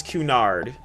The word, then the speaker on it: Cunard: Oh, it's Cunard. Thank you, thank you. I was like, am I pronouncing that right?